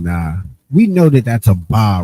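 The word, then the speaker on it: אבא: We know that that's a ba right there. That's clear as a va. A, but it's pronounced aba.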